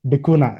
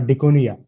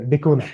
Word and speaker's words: Dikuna: Apparently, his name is pronounced Dikuna, not Dikunia.